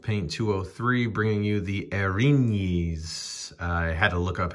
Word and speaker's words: Erinyes: from house of paint 203 bringing you the erins i had to look up how to say this because i've been pronouncing it aaron yes so this is a medium fiend who appears